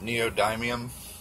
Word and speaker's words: neodymium: got these super strong, I think you pronounce it neodymium magnets, and that's going